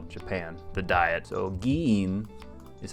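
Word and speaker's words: 議員: So giin is how you pronounce this.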